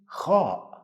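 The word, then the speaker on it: خ: pronounce letter ha again this letter sound has no English counterpart but it is the same sound some people make when they snore while sleeping some people when they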